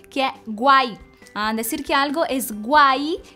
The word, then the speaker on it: guay: Decir que algo es guay, que se escribe con G, U, A, Y, né?